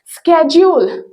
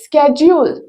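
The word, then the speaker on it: schedule: ಆರ್ ಶೆಡ್ಯೂಲ್ ವೇಳಾಪಟ್ಟಿ right in American English ಪ್ರನನ್ಸಿಯೇಷನ್ is different ಉಚ್ಚಾರಣೆ ಬೇರೆ ಇದೆ ಸ್ಕೆಡ್ಯೂಲ್ ರೈಟ್ ಸ್ಕೆಡ್ಯೂಲ್ ಓಕೆ ವೇಳಾಪಟ್ಟಿ ರೈಟ್ ನೆಕ್ಸ್ಟ್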